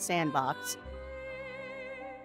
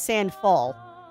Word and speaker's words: Sandfall: The lovely people over at Kepler and I always say the other name wrong because I want to say Sandbox and it's not Sandbox. It's Sandfall Interactive.